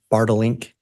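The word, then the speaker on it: Bartelink: And am I saying that correctly? It's Bartlink? You pronounced it perfectly.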